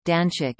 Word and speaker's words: Danzig: The German name, Danzig, is pronounced as Danch, listen.